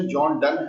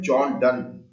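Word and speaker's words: John Donne: दूं कि जॉन डन, इसका एक्चुअल प्रोनाउंसिएशन जॉन डन है। जो पोएट है, जो कवि हैं, उनका जो नाम है, उसका वास्तविक जो उच्चारण है उनके नाम का वह है जॉन डन।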